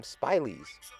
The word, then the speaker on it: Spileys: That's why we call them Spileys. Rhymes with smileys.